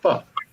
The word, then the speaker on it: pho: If you see the sign, it looks like pho, but they pronounce it pho.